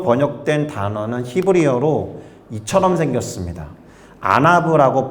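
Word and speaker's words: ענו: 됩니다 그런데 온유함으로 번역된 단어는 히브리어로 이처럼 생겼습니다 아나브라고 발음이 되는 히브리어인데이 단어를 언제 쓰느냐 하면 고대 시대에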